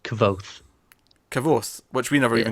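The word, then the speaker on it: Kvothe: Um, so you know, by the way, the name is pronounced Cavoth. Cavoth, which we never even got close to. I think I think we said everything but that. Yeah. Kavoth.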